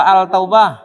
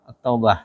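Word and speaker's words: التوبة: At-Taubah apa Al-Taubah? At-Taubah.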